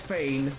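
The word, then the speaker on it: feign: Is it fain? Yeah, it's fain or fi.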